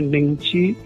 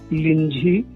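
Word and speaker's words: Nyingchi: निंगची के 3 नाम हैं, निंगची, लिंजी और निंगत्री। एक ही के 3 उच्चारण हैं, एक ही शहर और उपप्रांत के।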